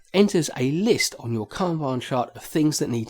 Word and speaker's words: Kanban: in at number five is Kanban or Kanban I think is the correct pronunciation and Kanban is a